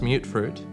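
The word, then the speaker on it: mutfruit: Tato, mute fruit, pronounced mute fruit, and corn.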